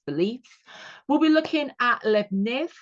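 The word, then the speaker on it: Leibniz: we'll be looking at lebner as I like to pronounce his name and share the name with those really nice biscuits you can get you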